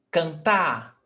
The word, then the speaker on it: cantar: Oxytonas are those words in which the last syllable is stressed, okay?